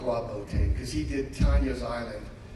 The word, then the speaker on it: Bottin: And people always pronounce his name wrong. It's not Bottin. It's Bottin. Okay.